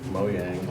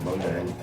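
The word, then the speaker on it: Mojang: It's like Moyang. Everybody calls it Moang.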